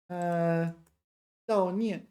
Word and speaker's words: 悼念: Yeah, you have to be a bit careful with the pronunciation here. This is Dao, if I remember correctly, not Yao. It's Dao. Dao Nian, grieve.